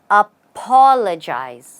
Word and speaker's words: apologize: apologize or apologize well the right way to say it is apologize you stress on the p o make it sound like a PA again and say apologize apologize I hope you get